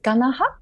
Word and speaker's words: Ganaha: also um my name family name is ganaha it's three syllable gaha and it is said